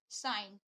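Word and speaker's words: sign: देखते हैं लिखी हुई साइन हम अक्सर कंफ्यूज रहते हैं कि इसको साइन क्यों पढ़ा जाता है साइन क्यों नहीं पढ़ा जाता है ना क्योंकि यहां पर जी को साइलेंट रखा जाता है इसी तरीके से और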